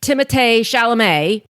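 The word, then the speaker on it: Timothée Chalamet: with timate shalam and I hope I said that right because I recently heard that that is actually I think how you pronounce his name and I've been calling him Timothy for all this time so sorry and I'm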